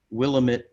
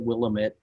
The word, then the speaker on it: Willamette: and here is the willamette river and the person narrating it um mispronounced willamette i turned off the video and i said ah he said we'll admit you know and then